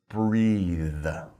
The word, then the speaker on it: breathe: pronounce it breath but if you're talking about the action that's a verb we put an e on the end and we pronounce it breathe okay so breath breathe